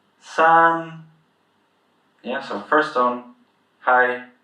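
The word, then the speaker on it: 三: with an "a" so whenever you see an "a" in pinyin you pronounce it as an "ah" sound. Yeah, so sān, sān.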